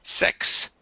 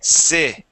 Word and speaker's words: six: e are similar okay you had said sex SE SE this is six six yeah make sure to get that distinction six yeah okay um